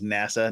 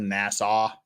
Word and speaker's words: NASA: study and uaps okay I object to anyone that pronounces NASA Nassau civilian and government entities